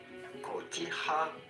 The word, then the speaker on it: cotija: We are looking at how to pronounce cotija cheese.